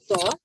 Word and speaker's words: ط: This is letter Ta, which is a heavy and thick letter.